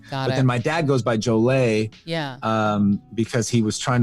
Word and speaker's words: Jollett: a part of the family that goes by Jollett. Okay. And they think there was an E at the end originally, but at Ellis Island at some point they lost an E. Then my dad goes by Jollett.